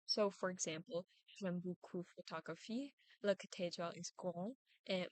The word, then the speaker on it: photographie: As quoted from the University of Texas, stress is placed on the final syllable of a word, which is very different from English, where it can occur in any place depending on the word. So, for example, in French, I would say photographie, cathédrale, and passion.